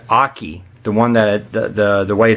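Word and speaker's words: Okky: But this one here, his name is, I think it's Aki. The one that the way it's supposed to be pronounced. It's O-K-K-Y. So Aki.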